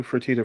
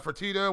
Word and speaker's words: Fertitta: it says don't do fertitta for todd yeah something like frittata fertitta whatever your name is yeah